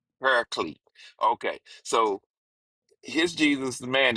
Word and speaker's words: Paraclete: P A R A C L E T E pariclete. Paraclete.